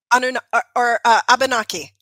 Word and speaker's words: Abenaki: Abenaki.